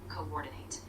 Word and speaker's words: coordinate: One small tip, when you say coordinate, make sure you stress the second syllable, coordinate.